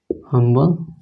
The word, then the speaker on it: humble: ठीक है, एक और एग्जांपल से समझिए कि रहे ही इज अ हम्बल मैन।